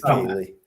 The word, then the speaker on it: Kaylee: Kylie, it could be Kylie or Kaylee. Oh, yeah. I don't know how to pronounce it. I believe it's Kaylee.